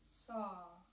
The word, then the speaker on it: Sa: body exhales silently repeat saw like s a but it's spelled SA or you could repeat